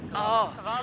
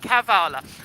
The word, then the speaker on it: Kavala: We've been trying to pronounce it Kavala. I've been trying not to say, well, Charlotte in particular has been trying not to say Kavala. I've been saying it right, Kavala.